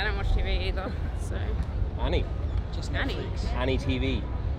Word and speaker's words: Annie: They're both pronounced the same way. A-N-N-I-E and A-N-Y.